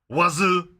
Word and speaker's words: oiseau: In French, bird is oiseau. Wazoo. Oiseau is bird. Wazoo.